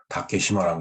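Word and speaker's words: 竹島: 그 섬도자를 시마라고 읽죠. 그래서 그 다케시마라고 얘기를 하는 겁니다. 얘네들이. 그 다음에 이제 뿌리 근자를 리라고 읽습니다. 얘네들이. 훈독을 하는 거죠. 그러니까 시마네 현의 이름은 다 혼독을 하는 겁니다.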